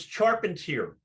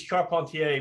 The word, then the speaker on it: Charpentier: say your name it's it's sharpened here if you're French it's Char pontier but I never say that I I didn't want